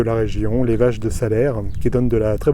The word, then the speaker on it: Salers: Vous savez, ici c'est le pays de Salers, ça s'écrit avec un S à la fin, mais ça se prononce Salers.